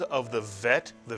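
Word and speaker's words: ב: If you take the dagesh out of the bet, it is no longer pronounced as a B in English, but as a V in English. And therefore we call it a vet.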